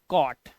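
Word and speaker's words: cot: उच्चारण कैसे करेंगे देखो जब दो कंसोनेंट के बीच में ओ हो तो ओ का साउंड अ हो जाता है जैसे सीओटी इट्स नॉट को कॉट कोट तो य है यह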